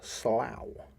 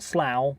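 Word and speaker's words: sluagh: and kidnap people similar are the slough s l u a g h right so not Slough but Slough who would come from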